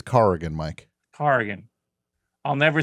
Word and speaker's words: Corrigan: For the love of God, it's Corrigan. In the dream, they were correcting my pronunciation. How many times I got to tell you it's Corrigan, Mike? Corrigan.